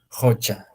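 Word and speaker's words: qocha: no O sea verdad en cambio el otro está con la q y lo vamos a pronunciarlo jocha muy bien entonces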